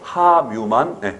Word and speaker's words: 함유: 하뮤만 여름 법칙에 걸린 하뮤만 표준 발음입니다.